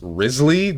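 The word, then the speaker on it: Wriothesley: It's pronounced Rizley.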